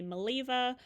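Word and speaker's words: Mileva: I say it Maleva, some people say Maleeva. Um, there's all kinds of pronunciations.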